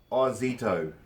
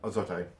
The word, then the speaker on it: Ozito: And again, the brand's pronounced Ozito, not Ozito.